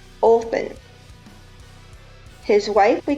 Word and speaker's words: Odin: The chief of the Norse gods is pronounced Odin by us Americans, but the original pronunciation was Othin.